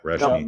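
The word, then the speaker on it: Reschny: I'm going to have to go with Cole Resheny. How do you pronounce his name? Resheny? Is that how you pronounce his name? Yeah, Reshny.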